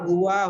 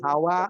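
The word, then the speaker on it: هو: Jadi kalau ada ha dengan waw, kalau itu kita tahu adalah domir, pasti bacanya sudah huwa. Nggak bakalan hawa atau hiwa atau huwi, nggak bakalan.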